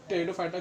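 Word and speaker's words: Pteridophyta: इसको बोलते हैं हम लोग टेरिडोफाइटा, क्योंकि इससे जो पी है हम लोग होता है साइलेंट।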